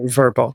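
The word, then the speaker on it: Vrbo: so they renamed everything verbo vbo as a verbal that's kind of how they pronounce it it did really well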